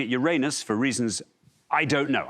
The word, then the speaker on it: Uranus: I'm going to go for Uranus. OK, Uranus, not pronouncing it Uranus for reasons I don't know.